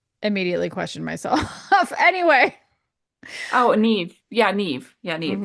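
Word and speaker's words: Niamh: So yeah, like I said, Never Say Never by Claire Forsythe.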